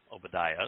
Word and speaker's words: Obadiah: Obadiah is how it's pronounced today.